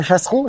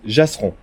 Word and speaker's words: Jasseron: Donc on est à Chasseron, Chasseron, Jasseron. Jasseron, mais Ouais. ça s'écrit PCH? Non, J. Ah, c'est un J.